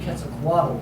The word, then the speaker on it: Quetzalcoatl: I took the official transcription, but that's clearly pronounced as the Quetzalcoatl. It's supposed to be Quetzalcoatl Empress.